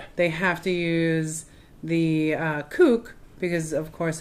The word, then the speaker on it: CUC: Is it CUC or kook? Kook. I don't know how to say it. CUC is like the symbol. Right, and it's kook. It's pronounced kook.